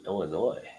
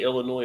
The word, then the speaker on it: Illinois: it do you say Illinois or do you say Illinois there is no s in the past Illinois